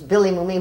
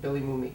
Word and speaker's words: Mooney: Billy Mooney. Did I say it wrong? Billy Mooney. It's Mooney.